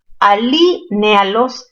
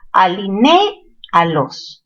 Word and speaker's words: alinéalos: Alínealos antes de que el desorden impere. No se dice alínealos, sino ¿cómo se dice? Alinéalos. ¿Ya? La fuerza está en ne.